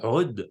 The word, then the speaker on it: oud: Oud. En fait, avec l'accent arabe, on doit dire Rud, mais même moi, je ne suis pas très sûr de bien le prononcer, mais c'est un Rud.